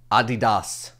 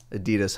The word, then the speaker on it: Adidas: mind is ultraboost by adidas adidas however you want to call it adidas i know is not the correct pronunciation but nobody does that